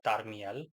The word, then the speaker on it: Tarmiel: I'm just gonna, from henceforth, I'm gonna pronounce his name in a flat manner, Tarmiel, just because I like it personally. So yeah, let's dive right into it.